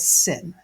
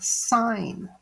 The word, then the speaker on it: sine: the letters s n it is not called sin this is an abbreviation just like tan is an abbreviation for tangent the sinin is an abbreviation for the word sign so the word sign is spelled s i n s i n e is the name of